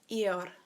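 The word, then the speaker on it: ir: Spanish if you remember its ear so it sounds like a body part ear and to say to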